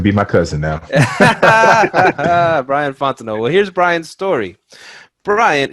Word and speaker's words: Fontenot: Did I say it right? Fontenot? Man, you said it perfectly. You can go ahead and be my cousin now. Brian Fontenot.